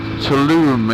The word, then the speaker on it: Tulum: It's a place called Acamal, which is between Playa del Carmen and Tulum, it's actually pronounced. I was calling it Tulum before we went, like a heathen.